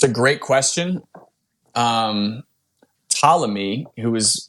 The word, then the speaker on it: Ptolemy: His name's Ptolemy. It's actually spelled with a P, Ptolemy.